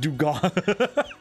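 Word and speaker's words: Dewgong: It's not ding dong, it's pronounced dugong.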